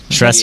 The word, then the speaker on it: Shrestha: Shresta. Yeah, 'cause I'm trying to figure out. Is he saying Shasta? Shresta. Which, if you can remember, is SHRESTHA. THA is the tricky one on that one.